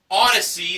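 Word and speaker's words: Audeze: She bid $910 on a pair of Odyssey, that's spelled A-U-D-E-Z-E, handcrafted magnetic headphones with luxury case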